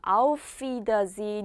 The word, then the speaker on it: Auf Wiedersehen: Auf, wieder, sehen. 자, 그런데 F 발음하고 V 발음이 만나다 보니까 연음이 잘 돼요. Auf Wiedersehen 이렇게 읽으시면 되거든요.